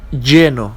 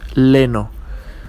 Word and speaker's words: lleno: it's pronounced paella, and we have lleno, not leno, okay, the double L is pronounced like an English J.